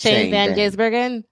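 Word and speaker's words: Shane van Gisbergen: only one that knows how to say this Shane Van gurgen yes we all know that we all went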